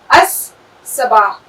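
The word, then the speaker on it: الصباح: Sabah, अस-सबाह।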